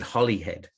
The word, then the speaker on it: Holyhead: And we pronounce it Hollyhead. Hollyhead. Like like it like Holly, like H O L L Y, even though it is Holyhead, but we we say Hollyhead.